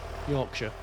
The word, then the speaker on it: Yorkshire: If if you see a shia in England, it's it's normally sh. If it's a shia, it's a sh normally. Lanasher, Yorkshire, Tuxen.